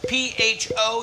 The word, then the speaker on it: pho: It would be pho, P-H-O, and everybody mispronounces it, but it's really pronounced pho.